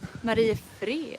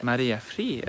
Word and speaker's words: Mariefred: How would you pronounce it? Mariefred. Mariefred.